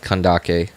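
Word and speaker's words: Candace: I've heard that her name's supposed to be pronounced kandake want to sucr copy for C6 C6 um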